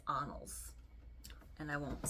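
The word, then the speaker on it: Annals: n n a LS I kept saying anals but it's anals and I won't say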